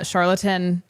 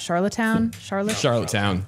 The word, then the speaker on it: Charlottetown: So obviously we don't have the audio for it because this just happened, but Charlatan, how do you pronounce that? Charlottetown?